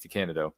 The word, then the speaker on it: DeCandido: So that's how you say it, Keith DeCandido.